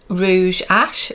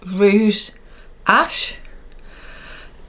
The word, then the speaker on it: Rouge H: I definitely said I would be interested in the Rouge Ash. Is it Rouge? It's like Rouge H, but I think you pronounce it Rouge Ash.